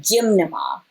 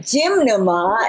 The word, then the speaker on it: gymnema: one amazing plant called gymnema. And gymnema is spelled gym as in, you know, you're going to the gym. Gym, and then N-E-M-A. Sometimes it's spelled with M-M-A, but it's gymnema. Gymnema is a plant that